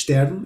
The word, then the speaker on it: Stern: But anyway, the next one, Stern, or Stern in English, but in German and in Yiddish, Stern is the way it's pronounced.